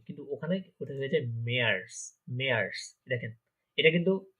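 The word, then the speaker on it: März: March আমরা normally ইংলিশে বলি, কিন্তু ওখানে ওটা হয়ে যায় মেয়ার্স।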